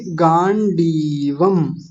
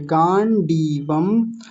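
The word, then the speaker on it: गाण्डीवम्: बोल रहे हैं सभी गांडीवम है ना ड पर बड़ी ई की मात्रा है बस ये ध्यान रखना है इसको जल्दी में नहीं बोलना छोटी मात्रा नहीं बनानी बड़ा ही रखेंगे गांडीवम और अगला तो मैंने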